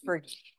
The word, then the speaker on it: PHRG: and the global economy known by its initials phrg or Fergie I've heard it pronounce many ways but we tend to use Fergie um on behalf of